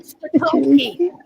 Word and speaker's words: Spitulski: Spitulski. Nix, it's Spitulski. Patolsky. Spitulski. S is silent? No, I'm pronouncing the S. Spitulski, like spit. Olski. Well, I didn't want to